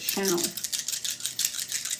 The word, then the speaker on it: Chanel: Chanel.